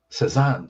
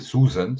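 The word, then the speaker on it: Cézanne: in a school called george stephenson high school cezanne so so they they pronounced it susan so i had to say no it's not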